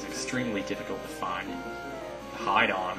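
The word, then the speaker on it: Hidon: But as his name implies, the Hit-On is extremely difficult to find. The Hide-On. It might be Hide-On, is how you say that.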